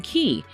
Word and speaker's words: Cay: It's worth pointing out that we've always called the destination Half Moon Cay because that's how we've heard locals pronounce the name.